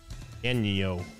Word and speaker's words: daño: And with tilde is pronounced nya. Danya. Danya. Danyo.